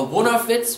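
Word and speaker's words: Vunnarfetz: or always looking into other people's businesses, a wonderfits, we say in Pennsylvania Dutch, wonderfits, let's spell that, V, U, N, N, A, R, F, E, T, Z.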